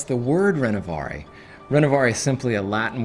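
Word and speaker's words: Renovaré: Some people can't even pronounce the word Renovare.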